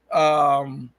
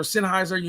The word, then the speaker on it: Sennheiser: 150 microphone makers, from MXL to Shure to Sennheiser or Sennheiser, how you want to pronounce it, to you name it.